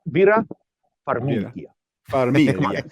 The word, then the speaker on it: Farmiga: Farmiga. And is it Patrick? Is he still in guys, it? come on, guys. It's Vera Farmiga.